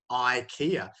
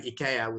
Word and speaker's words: IKEA: For example, Ikea, you know, it's totally unnatural in most European languages to say I, you know, but in English it's totally natural.